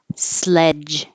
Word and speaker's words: sledge: in the street swerve Sledge and wedge do these at the same time because they have the same jock at the ending spelled with a DG sounds like a j Sledgehammer a wedge of